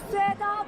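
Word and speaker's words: Sueda: My name is Seda. That's spelled S-U-E-D-A.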